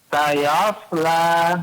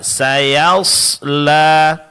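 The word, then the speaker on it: سيصلى: Kemudian terakhir sama dengan sebelumnya, pengucapan huruf ya ketika berdekatan dengan huruf shad jangan terpengaruh, Pak ya. Tetap ya ditipiskan. Sayasla. Sayosla. Nah, jadi bukan sayo. Bukan sayos tapi saya. Sayasla.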